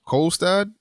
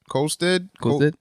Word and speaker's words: Kolstad: I'm not pronouncing that. What? Kolstad. Colstead? Kolstad.